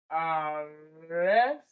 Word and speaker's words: arrested: For arrested, it is pronounced, it is written as arrested. So the second syllable is the one that is stressed.